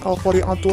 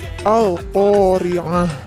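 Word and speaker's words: القارعة: Nah, tu-nya dibaca ha, jadi dibacanya bukan Al-Qari'atu lagi, Al-Qari'ah.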